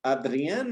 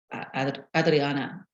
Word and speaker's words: Adrienne: Adrienne? Adrienne? Adrienne. Adrienne. In Spanish, looking at it phonetically, I would say Adrienne, but Adrienne. Yeah, most Spanish speakers that I work with will call me Adriana.